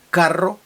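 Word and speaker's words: carro: увазі знову ж таки різниця в тому як ми вимовляємо звук R сильне R подвійне пишеться подвійною буквою або одинарне р карро і Каро лапарія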